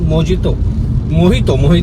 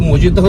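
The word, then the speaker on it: mojito: उसके साथ हम मोहितो एक्चुअली उसको मोजितो नहीं बोलते, मैंने कल उसका प्रोनाउंसिएशन चेक किया था, मोहितो भी हमने मंगाया।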